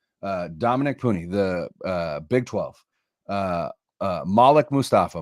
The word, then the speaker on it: Malik: Malik, by the way, is how you pronounce that name. It's not Malik. I learned that. It's not Malik. Yeah, I learned that Guy Haberman had a Wake Forest journalist on, and it's Malik.